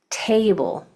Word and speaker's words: table: If whatever syllable has the accent, that's the syllable that you say more strong, like table, the first syllable is accented, but guitar, that second syllable is accented.